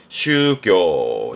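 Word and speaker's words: 宗教: 발음은 슈교, 슈교.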